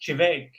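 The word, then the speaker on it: Teabhag: at Prabin na Linie, their blend was Chivek, and most people can't pronounce it as well. T-E and then B-H-E-A-G. So most people just called it teabag.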